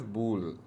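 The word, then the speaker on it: Boole: I think not sure what's The guy's name is George Bill, not George Bull. You pronounce it as bool.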